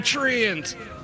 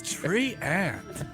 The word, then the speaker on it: Treant: It's me, the Treant. You're saying it wrong, dude. It's tree ant. I swear it sounds like your name is Trent.